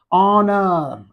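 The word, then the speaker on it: honour: Honor, H-O-N-O-U-R, honor. And here H is silent, and we are pronouncing the word from O.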